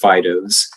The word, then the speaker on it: FIDOs: was to help the flight Dynamics officers and that's pronounced Fidos and I put their